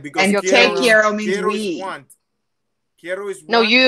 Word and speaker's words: te quiero: Tell us, Rob, the difference between Te Quiero and Te Amo, and can you pronounce them for us? Tell Connie like, that you love tell her. A friend. Te Quiero, you would tell a friend, and Te Amo,